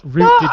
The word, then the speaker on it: route: is a router because we pronounce that word root apparently not all of